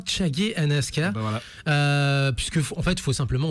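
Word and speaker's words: Chage and Aska: Je pense que tous les anim fans connaissent de alors il paraît que c'est Chagi and Aska. Alors ça se prononce bel et bien Chagi and Aska.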